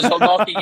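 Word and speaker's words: Zieliński: Oh, Zelensky, yeah.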